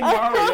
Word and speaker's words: Mario: Like, If you're not saying Mario, you're saying it wrong.